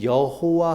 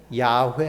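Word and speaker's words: 야훼: 유추하면 구약에서 하나님의 이름을 야라고 이렇게 기록합니다 우리는 여호와 하나님이라고 이렇게 표현을 하잖아요 여호와 여호와 하나님이라는이이 여호와라는 단어는이 독일 사람들이 야 발음이 안 돼요 그래서 야 단어를 읽으면 호바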